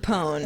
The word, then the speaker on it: pwn: misspelling yeah I got I guess you have to say pone all right how else